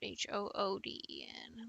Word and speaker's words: Hooden: The favorite H-O-O-D-E-N. Long vowel. Hooden rhymes with wooden.